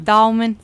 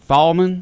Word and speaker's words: Thalman: Brantley it's a tiny little community and it's pronounced what again Thalman Thalman yes and it's between Brunswick and Brantley County